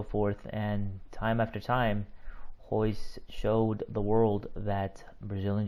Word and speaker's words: Royce: All his children's names start with R's. But you don't pronounce the R. It's more like an H or a silent R. Of course, we all know who Royce Gracie is.